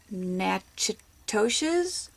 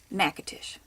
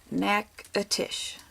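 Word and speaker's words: Natchitoches: Now I like to call it nacho cheese, and some might think it's nachitoshes or nachitochies. Don't know. It is actually said Nakatish. Nakatish.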